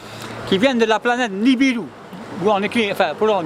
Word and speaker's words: Nibiru: Ils cherchaient de l'or, les Anunnaki, A-N-U-N-N-A-K-I, qui viennent de la planète Nibiru, où on écrit, enfin, pour Nibiru, hein, ou Nibiru, nous en Thaïsien on dit le U se prononce où.